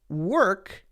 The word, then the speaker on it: work: these sounds right but in the case of work in this specific case there is no or sound just the r sound if it's f o r or f-o-r-k then it's Fork right Right Fork corn clearly there's an o sound but if it's work were we're hitting that R directly there's no o there so that's just something